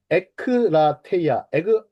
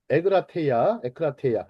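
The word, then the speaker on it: ἐγκράτεια: 에크라테이아, 에그라테이아. 자, 에크라테이아나 에그라테이아 발음은 뭐 이렇게 두 가지로 냅니다.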